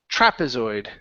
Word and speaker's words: trapezoid: last one here is trapezoid stress at the very beginning trapezoid trapezoid uhuh one more time